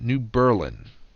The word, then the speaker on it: New Berlin: here and Lake Geneva people in New Berlin pronounce it New Berlin it's not Genoa city to the south of